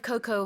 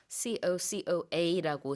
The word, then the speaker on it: cocoa: COCOA라고 스펠링은 이렇게 하지만 영어로 발음할 때는 끝에 A 발음하지 않고요.